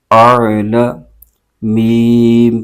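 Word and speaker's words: أعلم: یا زیر نی انی حمزہ عین زبر آ لام زبر لا اعل میم پیشمو اعلم میم الف زبر ما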